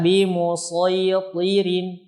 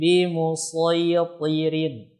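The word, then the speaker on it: بمصيطر: Lalu ada kata bimusaytirin, dibaca dengan shad saja, yakni bimusaytirin.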